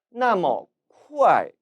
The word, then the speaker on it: 那么: 那么 이 단어 역시 那么 나머로 발음합니다. 앞서서 이는 저, 나는 저라고 설명을 드렸기 때문에 나머는 저렇게 또는 그렇게 혹은 그러한이라고 해석할 수 있겠죠.